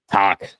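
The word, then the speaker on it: Tocchet: I'm scared to say his name because I know I'm gonna botch it, but Oh, Rick Tocket. Tac, that's how you say it.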